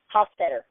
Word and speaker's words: Hostetter: me I can hear how do you pronounce your name Hofstadter oh I wasn't I wasn't like my was pretty close not too bad it was